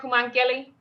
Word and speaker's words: Koumankele: Kumankeli?